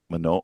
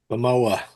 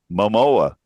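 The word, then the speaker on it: Momoa: Perhaps one of the most unexpected moments was when Panta came out and then host J Mano, how do you say that? Mamoa. Mamoa.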